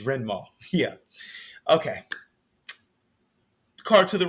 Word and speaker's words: Rendmaw: I butchered that commander's name. It's Rendmaw.